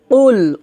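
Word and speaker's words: قل: আমার সাথে বলেন বিসমিল্লাহির রাহমানির রাহিম তারপর লাম পেশ কুল কুল এখানে কুল এটা হবে না হবে কুল কারণ এখানে দেখুন এটা কিন্তু কফ এটা কাফ না এটা কফ কফটা আমাদেরকে মোটা করে উচ্চারণ করতে হবে কুল কুল এভাবে কফ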